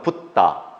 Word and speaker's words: 붓다: 35세에 부처, 한자로는 불타, 우리는 부처라고 본래 발음은 붓다, 깨달은 사람이 되었습니다.